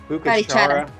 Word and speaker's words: Bucaramanga: So we were in Bucachara. Is that the name of the town? I don't know. Well, it's the prettiest little town in all of Colombia. I can't think if it's Bucachara.